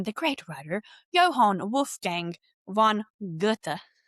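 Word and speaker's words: Goethe: And so I'm going to keep it short and I'm going to use a quote from the great writer Johan Wolf Gang von Ga. It's spelled goth.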